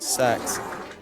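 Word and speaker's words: CeX: you to a magical British chain store called sex yeah that's how it's pronounced I swear I can suddenly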